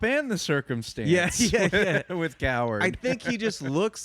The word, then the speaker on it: Cowherd: I like how you pronounce his last name, Coward. It's correct. Coward.